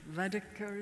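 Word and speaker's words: Varadkar: Mr. Vadiker is how I pronounce his name.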